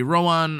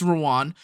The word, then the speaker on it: Rowan: always going to be Rowan or Rowan I don't know why I can't say his name right it's ran and the reason why